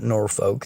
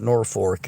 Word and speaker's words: Norfolk: of like in Nebraska most people don't call it Norfolk they call it Norfork if they're from Norfork